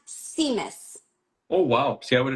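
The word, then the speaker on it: tzimmes: It's pronounced It's pronounced Seamus.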